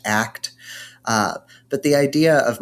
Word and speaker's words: ACT: acceptance and commitment therapy it's pronounced act uh but the idea